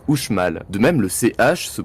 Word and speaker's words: Uxmal: Et bien en fait le X à l'époque ne se prononce pas comme de nos jours en français. Il produit un son entre le SH et le J, un peu comme dans la langue basque actuelle. Ainsi la cité maya de Uxmal se prononce Uxmal.